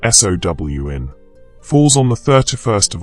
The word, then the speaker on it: Samhain: Samhain, pronounced Sown, falls on the 31st